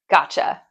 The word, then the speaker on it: gotcha: Once again, the emphasis is on the first part of the word. Gotcha. Not gotcha. Gotcha. Gotcha. Also, we're using the short o sound. A like this. Ga. Ga. Gotcha.